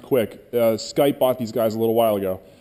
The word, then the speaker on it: Qik: this one called uh it's spelled Qik but it's pronounced quick uh Skype bought these